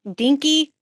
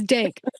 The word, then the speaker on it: DNK: owner of I'm G say this your Studio's name wrong dinky Studios which is did I say it right no that's great uh it's dank DNK dank Studios all right tell us more